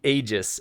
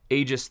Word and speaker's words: Aegis: We have the Aegis, uh, or the Aegis. I'm not quite sure how to pronounce it. So, AEG GIS, I think it's Aegis.